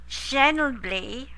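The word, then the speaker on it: Schnebly: You're going to go to the Sedona Creative Life Center, which is 333 Schenbly. I'll spell that Schenbly, I think, S-C-H, like school, S-C-H-N-E-B-L-Y, Hill Road, Sedona, Arizona.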